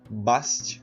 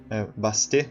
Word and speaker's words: Bastet: E uma coisa bastante interessante é que no Egito existia uma deusa chamada Bast, ou Bastet, na verdade, né? Que se pronuncia.